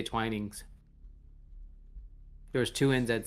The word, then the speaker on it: Twinings: I've called it twinnings twinnings apparently it's not twinnings it's twinings I was not aware